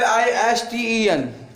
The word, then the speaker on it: listen: TEN और TCH में T silent होता है, दोनों TEN एक साथ होगा, ये एक साथ होगा, और TCH एक साथ होगा, तो ये टी जो है साइलेंट हो जाएगा।